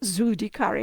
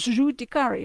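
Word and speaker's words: Giudicarie: But again, I don't think it was pronounced Zudicari. I think it was pronounced Giudicari or something like that.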